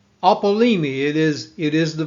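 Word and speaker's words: ἀπόλλυμι: Now, the New Testament Greek word, this is pronounced apollumi. It is It is the verb apollumi.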